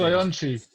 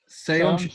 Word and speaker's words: Soyuncu: Wait, I can never say Soyuncu. Just say it as it's spelt, mate. It's not that hard. Soyuncu. Where's the H in that? It's Soyuncu, one of the.